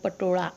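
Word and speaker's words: પટોળા: बाकी सब पटोले हैं, पटोला बोलते हैं हमारे यहाँ, पटोड़ा, सॉरी गुजराती पूरा प्रोनाउंसिएशन इसका पटोड़ा होता है।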